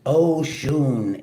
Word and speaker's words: Oshun: Oshun pronounced Oun is the mother of the Nigerian Yoruba people and her name means the source.